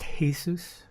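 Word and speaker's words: Jesús: already that look it's it's pronounced Hesus like the Spanish nice so yeah so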